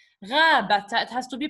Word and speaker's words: غابة: Here I don't say غابة because it's not at the end. غابتا. It has to be pronounced. غابتا, which is a forest.